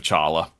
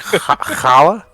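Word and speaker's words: challah: Jesus was made of Chala I mean Chala is pretty good could eat that you mean Hala is it Hala is that how it's pronounced it's it's Hal well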